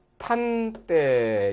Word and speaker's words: 낮 한때: 그러면 이것도 낮 한때 이것도 그대로 해서 지읒이 낫하고 디귿으로 나니까 역시 티읕으로 나겠네요. 낫한때 이렇게로 나겠네요.